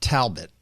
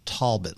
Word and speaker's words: Talbot: corrected at one point it's not talbot because that's what you would say if you're up north it's tall bit like there's an o but it's spelled with an a go go figure but